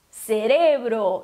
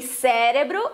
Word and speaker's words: cerebro: Então, essa próxima palavra se pronuncia cerebro, então não é nem cérebro e nem cérebro, tá? Para isso teria que ter o acento no E, porque todas as